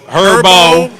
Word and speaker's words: Herbo: Herbo. How did you and Herbo look up? Herbo. The H is silent.